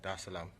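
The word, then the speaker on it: Dar es Salaam: the seventh to come straight to um tanzania da salaam should i pronounce that right yeah okay cool jerusalem there's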